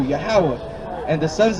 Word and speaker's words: Yahweh: The Most High God, his name is Yahweh. That's how you say it in Hebrew, Yahweh.